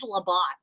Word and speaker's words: LeBeau: It's spelled like bow, like B-E-A-U, but it's really, it looked like, did you hear what I said earlier? What is Labat?